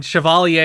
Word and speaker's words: chevalier: and we deal with its consequences i mean chevalier is how you pronounce it that is correct that is the